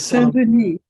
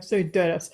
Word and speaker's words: Saint-Denis: It's Saint-Denis. It's Saint-Denis, Saint Denis. Oh, okay. Yeah, with only one N. We would say in America, St. Denis.